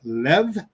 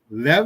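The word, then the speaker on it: לב: Pronunciation is Lev. Lev. You can tell it's Lev because Bet doesn't have the dot in the middle.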